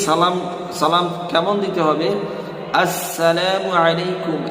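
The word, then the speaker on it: السلام عليكم: এইযে এই আস শব্দটা আমাকে আপনাকে উচ্চারণ করতে হবে। আমরা কি মূলত সালাম দিয়ে থাকি কেমন? সালামু আলাইকুম। সালামু আলাইকুম। আসসালামু আলাইকুম না আসসালামু আলাইকুম সঠিকভাবে সালামটা দিতে হবে যাতে আমি পরিপূর্ণ সওয়াবের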